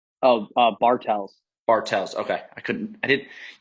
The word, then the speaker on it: Bartels: and then I put a space, and I was like Tells TELLS, like Bartels.